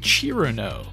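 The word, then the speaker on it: Cirno: thought her name was cerno but in doing some research I found out some people say her name as chirano which is based on how it's spelled in Japanese after evaluating all available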